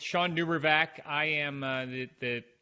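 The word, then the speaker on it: Shawn DuBravac: before but someone I've admired for many years Sean duber I'm sure I've pronounced your name incorrectly why don't you tell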